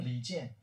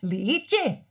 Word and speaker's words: 李健: Li Jian. Li Jian. I can't say that. Li. Li. Li. Li. Jian. Jian. Yeah, that's it.